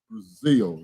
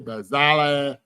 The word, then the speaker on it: Brazile: don't know my name is actually pronunciated as Brazil like the country It's Brazil brazal you know just like the country Brazil you put the E